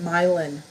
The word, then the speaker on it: Milan: In Michigan, we have a city spelled like Milan, but everyone calls it Milan.